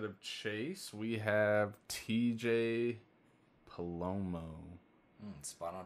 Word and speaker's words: Palomo: Chase could not make it, but instead of Chase, we have TJ Palomo. Spot on pronunciation.